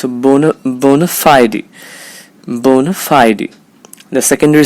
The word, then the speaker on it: bona fide: believe that it's pronounced fide but it's not it's Phi D remember the primary stress is on the syllable Phi bona fide it's a boner bona fide bona fide the secondary